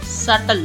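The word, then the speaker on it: subtle: com lamp B silent lamp thumb thumb dump dump नहीं होता dump doubt doubt सटल सटल doubt सटल इसमें B silent है सेटल सी silent Saint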